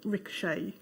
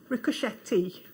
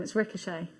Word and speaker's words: ricochet: Ricochet. It's the way it's spelled. Yeah. Did you say to him it's ricochet?